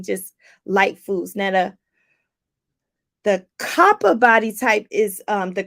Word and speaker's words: Kapha: k-a-p-h-a k-a-p-h-a -k-a-p-h-a but it's pronounced copper with like a p Kappa Dosha is earth